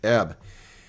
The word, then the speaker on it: herb: That's how it's pronounced because the H is silent. It's French. It comes from French. Herb.